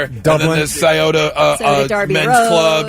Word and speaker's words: Scioto: Scioto River. That's pretty good. Say it again. Scioto River. That's pretty Yeah, good. I'll give you that. Scioto. It's Scioto. Scioto.